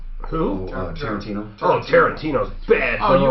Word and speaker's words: Tarantino: His name Tarantula. Who? Tarantino.